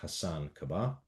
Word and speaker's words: Hasan Kubba: So, in this episode, I am very happy to have as our guest Hasan Kubba.